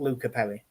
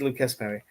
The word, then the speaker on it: Lucas Perri: They do pronounce the S. It's not Luca Perry. Yes. Yes. So I think it's Lucas Perry.